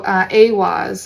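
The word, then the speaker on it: Eihwaz: So Awaz is the pronunciation of this rune here.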